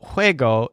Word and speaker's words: juego: So juego is spelled Juego, but it stresses wig.